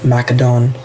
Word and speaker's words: Macedon: I'm not so sure about historical accuracy, but then there's Macedon over there or Macadon. I've heard people pronounce in all kinds of ways.